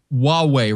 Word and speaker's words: Huawei: that Hawaii Heidi Seder huawei rhymes with Yahweh Huawei has been in